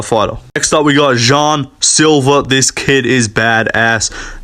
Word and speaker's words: Jean: Josh EMT but yeah John Silva uh that's not how you say his name I don't care but yeah Jean Silva It's not Jean it's Jean uh Jean Silva is